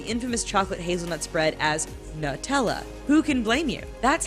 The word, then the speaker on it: Nutella: But there has clearly been some major controversy in how to pronounce Nutella. On Nutella's US frequently asked question page, it's pronounced Nutella.